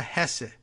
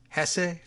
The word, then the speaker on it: Hesse: Assistant Attorney General Renata Hesse Hess Hess a does she pronounce like Germans do who is head of